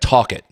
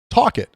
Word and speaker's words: Talcott: Talcott. Excuse me? Talcott. Get the L out of there. Talcott. Where is it? It's in West Virginia. Talcott. No L. Talcott. Talk it.